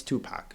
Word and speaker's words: Tupac: strange it's rep no it's his name it's Tupac it's just phonetically spelled so we called him